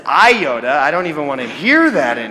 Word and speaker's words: iota: do you see that that is the Greek letter Yoda not a Jedi Knight and not mispronounce is iota I don't even want